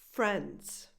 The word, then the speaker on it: friends: Friends, friends. So just ignore that I before the E. It's just not there.